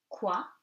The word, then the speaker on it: quoi: Q and U gives you K. You do not pronounce the U. So, quoi, que.